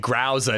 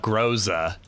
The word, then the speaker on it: Groza: Well, I didn't get it because I was pronouncing it Growza, not Groza.